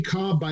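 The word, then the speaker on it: Kolb: you look under any cob by the way spelled k-o-l-b pronounced cobb his earned run average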